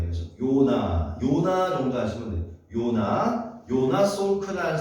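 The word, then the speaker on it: Jonas: 우리가 이제 J가 영어식 발음은 J로 지읒 이렇게 나지만 영어식 발음이 아닐 때는 이제 Y 발음이에요. 그래서 요나 정도 하시면 돼요.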